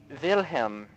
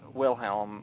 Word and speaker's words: Wilhelm: You might have noticed that I pronounced it Wilhelm instead of Wilhelm, like a normal English person.